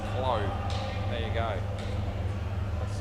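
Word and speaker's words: Clauw: So it's Clow. C-L-A-U-W. So he said it's Crow, except it's C-L. So Clow.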